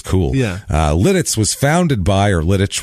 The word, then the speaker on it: Lititz: This is it's named after a castle which had the Czech name of Litice was how it was said, so it's somehow pronounced, I guess that's why I think it's Lititz. I'm pretty sure.